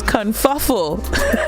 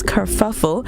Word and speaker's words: kerfuffle: a little kerfuffled because to me I thought the word was always confuffel I guess that's a word we use locally but now we're learning the proper word all right it's kerfuffle and it's spelled k-e-r-f-e